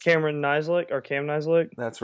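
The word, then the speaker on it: Nizialek: the punter in 2017, whose last name I have a hard time pronouncing? Cameron Nislik or Cam Nislik?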